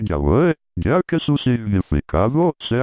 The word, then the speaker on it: Yahweh: Aunque llamativamente, en este mismo glosario de la traducción Reina Valera, 1960, se reconoce que la pronunciación original debió de ser Yahweh, ya que su significado se asocia con la idea de ser o de existencia.